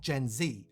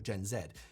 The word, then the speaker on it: Gen Z: Found it surprising just how many Brits say Gen Z as opposed to Gen Zed. Though some do still say it Gen Zed, but they're fighting against the grain.